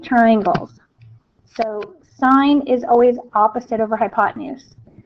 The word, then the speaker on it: sine: The first 3 trig functions are sine, which we abbreviate with SIN, okay? The full word is SINE, okay? So when you see this abbreviation, it's pronounced sine, not sin, okay?